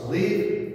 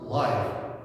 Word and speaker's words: live: is verb we pronounce leave if it is adjective we pronounce live okay more example maybe